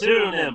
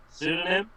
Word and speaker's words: pseudonym: understand what they have it's pronounced sudonym right pseudonym yeah um I like